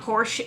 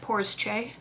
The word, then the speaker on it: Porsche: somebody pointed out that this name of car is not porsche it's two syllables so it is in fact poor's che we're just gonna take